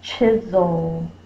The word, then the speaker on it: chisel: We hear the Z. That's the Z sound.